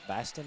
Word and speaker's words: Baston: I'm being educated on how to say this last name. It's Baston guarding Wagner.